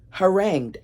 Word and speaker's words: harangued: Harangued. I didn't know that's how you pronounce that.